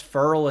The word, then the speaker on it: Ferrell: and I hate how that's Ferol and not Ferrell because I want to say like Will Ferrell but he pronounces his name like referral and I'm like I